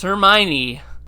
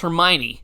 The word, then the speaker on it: Hermione: ron ron is poor and of course there's hermione oh emma she's so cute sorry but that